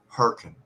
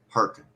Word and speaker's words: Hurricane: right but it's pronounced perkin perkin perkin like herkimer like herkimer diamonds like hurricane like h-u-r-k-i-n